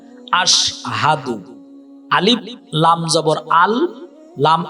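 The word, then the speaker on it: أشهد: আলিফ শিন জবর আশ হা জবর হা দাল পেশ দু আশহাদু।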